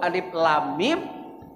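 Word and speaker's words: الم: Itu cara bacanya yang benar harus 17 harokat.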